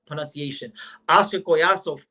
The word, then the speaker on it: Collazo: And we'll give the correct pronunciation. Oscar Collazo, right?